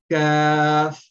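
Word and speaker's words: كاف: Now, while pronouncing this kaf, we are supposed to pronounce from the means lowest part of the tongue, but we are not going to use the force to touch the roof of the mouth, but now we will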